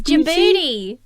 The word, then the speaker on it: Djibouti: It's Djibouti.